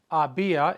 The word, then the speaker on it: había: Había, H-A-B-I-A, accent on the I, había sido, S-I-D-O, había sido divertido, it had been fun.